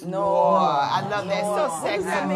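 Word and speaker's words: Knoir: K-N-O-I-R, and the K is silent, so it's Noah. It's Noah.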